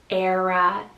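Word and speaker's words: Éire: name we have the name era spell e-i-r-e era so this one means from the west island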